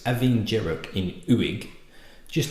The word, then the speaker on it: Abhainn Dearg: place called uik which is uig so it's aing jerro in uig just letters thrown everywhere on the aisle of Lewis which is pronounced how it's spelled I don't get it